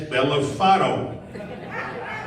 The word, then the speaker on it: Bellofatto: Spell it. I said, BELLOFATTO. GPS said, that is Bellafato.